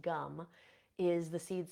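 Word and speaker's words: Gam: sound gum which is it's spelled g m but it's pronounced gum is the seed sound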